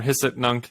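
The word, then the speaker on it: Hic et Nunc: the tesla's blockchain like caliman and picknung or hisset nunc as it's pronounced apparently i didn't know that yeah thank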